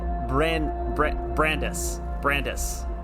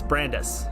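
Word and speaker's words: Brandeis: Also, it's pronounced Brandis. I looked it up, so it's Brandis. At least maybe not his name specifically is Brandis, but that's how Google told me to translate it, is Brandis.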